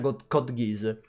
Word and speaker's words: Code Geass: Secondo me un altro must dover guardare, anche se non mi è piaciuto tantissimo, è Code Geass, che si pronuncia Code Geass, che è davvero molto molto...